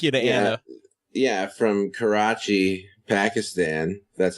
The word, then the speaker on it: Karachi: Yeah, from Karachi, Pakistan. That's how you pronounce it correctly.